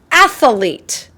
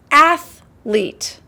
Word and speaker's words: athlete: Sometimes I've heard people pronounce the word athlete, athlete. They added a little bit of extra in there. It's athlete, not athlete.